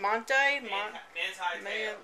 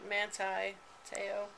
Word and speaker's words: Manti Te'o: Monti? Manti Te'o.